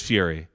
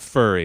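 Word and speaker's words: Furie: his last name correctly I think it's Fury the worst it is Fury yeah Matt fury it's not furry it's not Matt fur fur yeah okay maybe you is silent and it's fry I'm going to call him no I listen to an interview with him about this so I know it's Fury Fury okay good thank you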